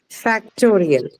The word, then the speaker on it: factorial: That is toe. Toe would be the stress And syllable. okay, and how did you get there? Because it's the suffix ial.